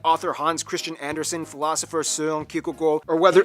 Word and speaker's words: Søren Kierkegaard: Hans Christian Andersen, philosopher Søren Kierkegaard, or whether... Pronounce his name? That's actually how you pronounce his name. Wow. It's not Soren Kierkegaard.